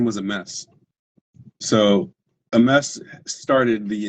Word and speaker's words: Amess: Now, if you say a mess, enough, it starts to sound like MS.